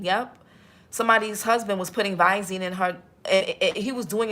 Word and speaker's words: Visine: Somebody I'm y'all got to I be man YouTube vazine. Viv. Oh, Visine. Oh, Visine. Yeah, it's Visine. Thank you, Auntie Fee. Visine. Yep. Somebody's husband was putting Visine in her.